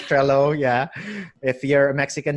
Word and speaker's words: Trello: I could mention a lot of things, but when I first started Trello, I don't know how to pronounce that. It's really just It, Trello. it's Trello, yeah.